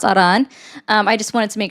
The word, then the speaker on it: Iran: And by the way, it's pronounced Aran.